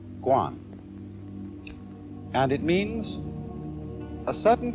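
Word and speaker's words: 觀: that means seeing and the whole character is pronounced gwon and it means a certain kind of observation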